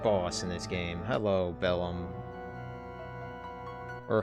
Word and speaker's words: Bellum: You call, some people say below me. I'm like, that just sounds weird. I just call him Bellum. Like, you see the bell and then the om.